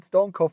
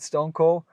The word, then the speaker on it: StoneCo: as I mentioned Stony I will just call it stoneco for right now because I guess a lot of people in the Western World at least in Europe they pronounce it Stone Cold even if it's not right um I would keep it like this so stoneco and so what is